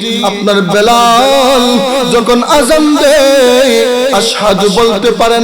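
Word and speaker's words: أشهد: তোমার আযানের মধ্যে সমস্যা, তুমি আশহাদু বলতে পারো না, শিনের জায়গায় সা উচ্চারণ করো, তুমি আর আযান দিবা না, অন্য সাহাবী আযান দিবে।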